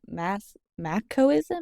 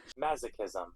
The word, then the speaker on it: masochism: Also, monks and mass machoism. Maso, how do you say that? Masochism. Masochism. Interesting. I would not have said it that way.